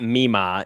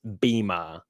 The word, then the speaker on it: Bima: Ended up sending them to, and it's not Mima, it's Bima with a B.